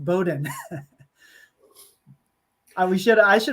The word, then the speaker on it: Bowdoin: here it's a really tricky one but it's pronounced Bowdoin uh we should I should have warned you